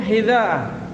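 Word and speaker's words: حذاء: Al-ashir yang ke-10, hidha'ah. Hidha'ah bizali al-mu'jamati ma'al maddi. Hidha'ah itu dengan pakai zal yang bertitik. Zal yang bertitik, bukan dal. Kalau tidak ada titiknya dal.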